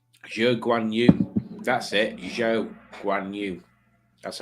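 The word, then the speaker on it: Zhou Guanyu: Zhou Guan Yu. That's how you pronounce it.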